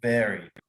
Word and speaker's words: buried: Buried. Buried. Un poco diferente porque es una vocal y una R, ¿no? Y tiene ese sonido como si fuera una E en español. Buried. Ok. Pero así se pronuncia.